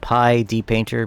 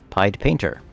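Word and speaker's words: PyDPainter: I always called it Pi D-Painter because D-Paint is the shortened version of Deluxe Paint, but no, it's pronounced Pied Painter, like Pied Piper.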